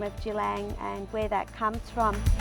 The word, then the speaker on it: Djilang: that recorded it and weren't able to actually pronounce the way our wadarang people pronounced it that over time it got changed to g long instead of jilang so we've returned the